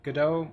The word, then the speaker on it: Godot: uh all right so the author says dot so make of that what do you want well in that case the appropriate thing would be go dot all right as as